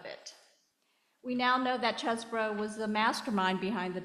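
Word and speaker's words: Chesebro: about Kenneth chesbro and it's pronounced chesbro and not cheesbro even though he's from Wisconsin um so one of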